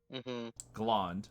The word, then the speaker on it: Glond: pronounce that cosmos c-o-s-m-o-s glond like blonde except with a g instead of a b okay cosmos belonged no